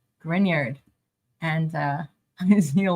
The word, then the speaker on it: Grignard: friends to pronounce it is the grard reaction grard not grignard grard and uh I see